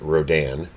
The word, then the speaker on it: Rodan: You have Rodan, which I pronounce it Rodan.